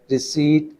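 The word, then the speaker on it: receipt: रिसीट, इसमें P silent है।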